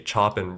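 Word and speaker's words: Chopin: school inside information all these Americans say like chopan or chopan or whatever the Polish people just say chopping bro they just straight up say chopping it's crazy I just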